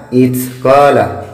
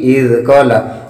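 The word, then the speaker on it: إذ قالت: Tadi dia bacanya itzqala, jadi bukan itzqala tapi izqala, bukan ta tapi za.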